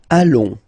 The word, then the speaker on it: allons: Nous allons. Final S not pronounced, and then when you get this ON combination, you get this nasal on, really in your nose, okay?